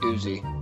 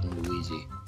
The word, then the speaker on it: Uzi: I have an Uzi now and uy it's pronounced Uzi I know that I wasn't talking to you I was talking to the noob who just called it uy no I said Uzi you said uy oh my go I have